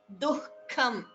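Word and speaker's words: दुःखम्: Sukha dukhe, dukham, a slight ha in between to show that there is a visarga.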